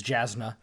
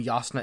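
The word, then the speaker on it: Jasnah: i would have i i would have read it as jasmine if i didn't know if i wasn't expecting it to have like a germanic pronunciation but i i assume yasna is the correct pronunciation that's what i'm going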